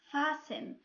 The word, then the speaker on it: fasten: Third rule: when we have a word ends with STEN, T here is silent.